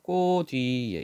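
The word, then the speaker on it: 코 뒤에: 소가 꼬 뒤에 자 이때 위는 실질적 의미를 가지고 있죠 모음으로 시작했지만 뜻을 가지고 있으니까 이때 치을 디귿으로 바뀌고 뒤로 넘겨야 되죠 그래서 꼬 뒤에 이렇게 발음이 됩니다 소가 꼬 뒤에 잠깐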